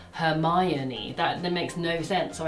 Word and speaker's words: Hermione: I read Hermione as Hermione Makes sense. because I just read it as it should be. Like, how was I meant to know? You meant to pronounce it Hermione.